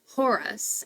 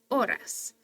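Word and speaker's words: horas: make sense anyways so we know the AES aren't going to be pronounced so it's not Hoy hey and Horus it's o i oras but then we've got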